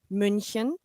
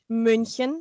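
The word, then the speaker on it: München: Munich or Mhai. Munchin. Munchin. Yeah, it has the U with the two dots on top. Ah, but see, for a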